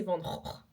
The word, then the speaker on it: Van Gogh: Et Van Gogh c'est Van Gogh.